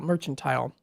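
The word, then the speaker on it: mercantile: Joe and do coffee and mini Donuts at the Wilson Street uh merchantile or mertile merchantile that's how it's pronounced uh that's 10:00 a.m.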